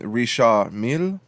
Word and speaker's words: Richard Mille: Risha Mill. You do not pronounce the D I learned like that in English.